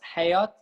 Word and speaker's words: hayat: But the thing is, like for us, hayat is the life. Hayat with the at sound.